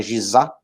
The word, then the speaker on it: Gizé: Eu subi na pirâmide, são 3 pirâmides maiores, todo mundo só fala nessas 3, mas nessa região lá, né, de Gizé, se pronuncia lá Gizá, são 5 pirâmides, né, são 3 maiores, Kelps, Kefren e Miquerinos, e 2 menores, que eu não recordo o nome.